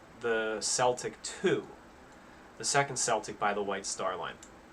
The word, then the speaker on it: Celtic: celtic two the second celtic by the white star line and one of the stewards wrote in his diary that um they pronounce it celtic with the soft c because most of their